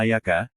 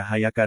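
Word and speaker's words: إياك: Engkaulah kami mohon pertolongan kiraah dan jumhur ulama membaca tasydid huruf ya yang ada pada Yaka sedangkan Amr Ibnu Faid membacanya dengan tahfif yakni tanpa tasdid disertai dengan kasroh tetapi kira ini dinilai syas lagi tidak dipakai karena ia artinya cahaya matahari Sebagian ulama membacanya Ayaka sebagian yang lainnya lagi membaca Ayaka dengan memakai khas sebagai ganti Hamzah sebagaimana yang terdapat dalam ucapan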